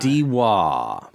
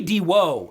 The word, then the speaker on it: Diwa: And I don't for the life of me know how people change an O to an A every fucking They time. just put the wrong syllable in there, dude, every time. Diwa. Diwa. It should be Diwo, if anything. Yes. Yeah. Yes. It's clearly an OH. It's whoa.